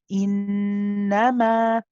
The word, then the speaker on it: إنما: Now you notice that when I stop on this word, I pronounced this alif and I stretched the meme, and it was a total of 2 counts. I said innama.